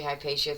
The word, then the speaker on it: Hypatia: will continue to say hiy pacia through this episode that's how most people pronounce it today Latin version that is the Latin pronunciation but it is in